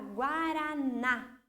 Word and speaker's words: guaraná: A palavra guaraná, o na, lá no final, é a sílaba mais forte.